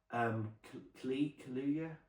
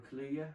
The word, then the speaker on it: Kaluuya: Kaluuya, Daniel Kaluuya, I think I pronounce it.